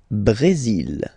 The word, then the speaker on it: Brésil: Le Brésil. Le Brésil. Okay, you will pronounce the final L here, and then remember accent aigu goes like E.